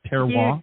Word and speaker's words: terroir: Did I pronounce the title of the book correct? Is it Terroir? You did.